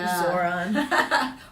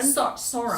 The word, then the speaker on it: Sauron: It's the eye of Zoron or like Lord of the Rings, right? His name Zoron. Sauron.